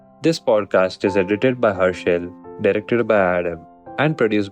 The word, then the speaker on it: Harshil: You write it like H-U, but you pronounce it like H-E. It is H-A. Herschel. You also don't know my name. It's H-A. So Herschel. Harshil.